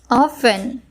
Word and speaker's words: often: This word is mispronounced by the beginners as there is T present in the word. The spelling is O-F-T-E-N, but the pronunciation is often.